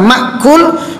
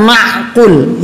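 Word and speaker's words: مأكول: ketika kita membacanya karena jagalah Hamza maqkul bukan mahful ya kalau Mak Ul artinya masuk diakal kalau maqkul artinya ia dimakan jadi pada waktu itu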